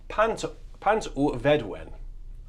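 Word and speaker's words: Pant-y-Fedwen: And it's the tune is pronounced Pant un Vedwen. Pant u Vedwen, I'm told on great authority.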